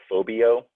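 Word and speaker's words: φοβέω: I think it's like phobio. So it's where we get the word phobia.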